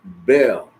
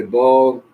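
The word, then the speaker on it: Baal: the seventh King was King Bell a ball many preachers say ball some of Bill So it's b a a l and then you see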